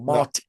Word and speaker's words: Martial: Philip Martial or Martial with a silent T.